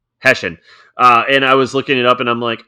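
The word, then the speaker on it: Hessian: So, how do you pronounce it, Chad? Hessen. Hessen.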